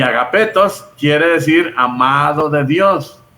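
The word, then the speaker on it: ἀγαπητός: En la primera carta de San Juan usa mucho esa palabra, agapetos. En griego se dice agapetos, pero tiene una ita, y la ita se pronuncia como i. Entonces eso quiere decir agapito, quiere decir amado de Dios.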